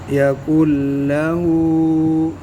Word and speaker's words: يكن له: ولم ये जो नून है ना, ये साइलेंट है, ये नहीं पढ़नी. यकुल लहू लाम बारीक.